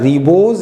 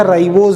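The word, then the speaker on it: ribose: रिबोज या राइबोज भी बोलते हैं कहीं कहीं, वो आप उच्चारण जैसा करना चाहो वैसे कर सकते हो।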